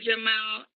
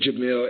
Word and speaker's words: Jamil: introduce them to you mr jamal i hope i'm pronouncing your name correctly shot it's jamil yes ma'am camille